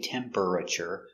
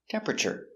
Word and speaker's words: temperature: temperature we see temper this is looks like four syllables but we have this eer in the middle we don't pronounce it we do not say temperature so it's temper temperature what's the temperature in Fahrenheit